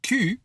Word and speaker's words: cul: If you say it like a U sound, cul, that's ass.